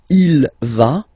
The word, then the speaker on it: il va: Basically you pronounce it like for the tu because you don't pronounce the final S, okay, il va, elle va, okay, je vais, tu vas, il va, elle va.